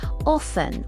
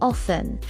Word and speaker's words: often: Often. Often. The T is usually silent. Often.